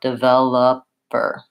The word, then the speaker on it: developer: and then I also don't say the O in that word because that's also reduced so I say a schwa developer again so we'll see these vowels the if and the schwa vowels in the unstressed syllables and we see a clear vowel and a long syllable for the stressed syllable so it kind of sounds like to know her developer if you look in